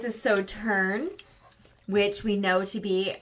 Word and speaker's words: Sauternes: And with this one, you pronounce the S at the end, correct? Sauternes? No, you do not. I don't think Oh. so. It's French. Just throw away the last half of the word. All right.